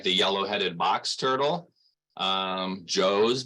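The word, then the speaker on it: Zhou: But here at the center, we have things like the yellow-headed box turtle, Joe's box turtle, which is spelled Z-H-O-U. It's Mandarin, so it's Chinese, a little different pronunciation there.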